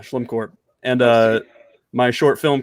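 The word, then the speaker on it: Schlimcorp: a better marketing yeah you'd think it's l-e-m but yeah slim court and uh my short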